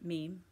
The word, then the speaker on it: meme: this really cool man meme someone showed me how to say it I'd only read the word I thought it was like men but it's meme apparently you know the the